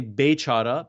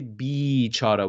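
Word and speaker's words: بیچاره: So, for example, you guys would say bechara, but we would say bichara. We kind of drag the Y B. more. Yeah. Instead of Mm. bechara, we say bichara.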